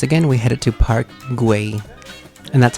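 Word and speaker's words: Güell: and so once again we headed to park gu and that's how you pronounce it and This Is Us finally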